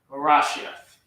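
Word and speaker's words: בראשית: Ba, Ra. It's not Ra. It's like Ba, Ra, Ah, Ba, Ra, Ah, Sh, Ya. That's not a Ya. Sure. There you go. Arashia and a Tha. Barashiath. Barashiath. So how do you say that in English? Ba, Ra, Ah, Sh, Ya, Th. Barashiath.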